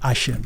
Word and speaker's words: Hashem: allez voir que souvent eux ils appellent Dieu Hashem. Ils vont dire Hashem. Hashem. Hashem. Hashem. OK. Parce qu'ils veulent pas prononcer le nom de Dieu.